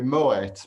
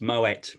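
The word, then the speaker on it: Moët: Yeah, and there's two little dots over the E called an umlaut. Yeah. And that means that you pronounce the last letter. So it's Moet.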